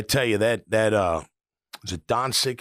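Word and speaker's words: Dončić: I tell you that is it Doncic? How do you say his name? Doncic.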